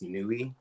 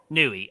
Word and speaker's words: Nui: right no you're good my name is pronounced Nui Nui okay I just want